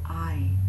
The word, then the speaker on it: Ai: 그래서 The King of I, His People, His City, King of I, I의 King of 영어에서는 발음이 AI로 하죠.